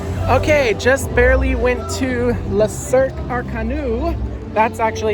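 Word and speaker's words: Le Cirque Arcanus: Okay, just barely went to La Cirque Arcanu.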